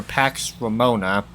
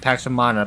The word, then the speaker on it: Pax Romana: single March on for Pax Ramona. I know it's supposed to be Pax Romana, but it's spelled Ramona.